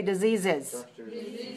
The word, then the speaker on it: diseases: All right, now add the extra syllable when you say diseases.